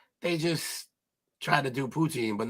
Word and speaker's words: poutine: protein or proton how do you say that poutine poutine poutine supposed to be delicious supposed to